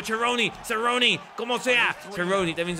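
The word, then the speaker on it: Cerrone: posición que le conviene seron aoni como quieran decirle cheroni sería el nombre real por el apellido creo que la pronunciación Correcta Por ser italiano pero bueno aquí logra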